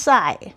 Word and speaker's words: psi: Well, anyway, this thing I'm going to call it Well, call it phi or This is pronounced psi.